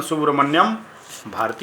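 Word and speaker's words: Subramania Bharati: Poet हैं सुब्रमण्यम भारती या सुब्रमण्या लिखा हुआ है, लेकिन इसका उच्चारण सुब्रमण्यम भारती होता है।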